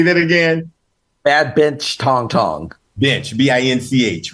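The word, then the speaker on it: Bad Binch Tongtong: had never heard of, and I might be pronouncing it wrong, so help me. Bad Bench Tong Tong. Yeah, Bad Bench Tong Tong. Okay, all right. Say that again. Bad Bench Tong Tong.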